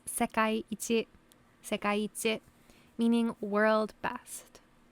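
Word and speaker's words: 世界一: It's not seikai ichi, it's sekai ichi.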